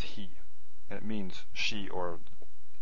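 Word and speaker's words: היא: is almost always spelled this way and it's pronounced he and it means she or or the feminine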